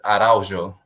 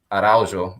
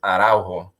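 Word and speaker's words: Araújo: There's the actual Portuguese way, which with a J, and like the J, you pronounce it Araujo, Araujo. But if you say it in Spanish, which is like a whole different accent, is Araujo. That J changes.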